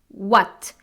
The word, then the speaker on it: what: What. The correct pronunciation is what, not what. There is no h sound. It's only the w sound.